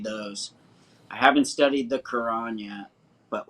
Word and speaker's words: Quran: It's pronounced Quran.